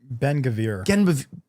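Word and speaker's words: Ben-Gvir: Ben Bengavir.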